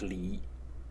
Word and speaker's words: 裡: a character that is pronounced Lee in the third tone and um the meaning